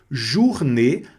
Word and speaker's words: journée: Journée, aqui novamente apareceu o O mais U, que é do bonjour, da U, né?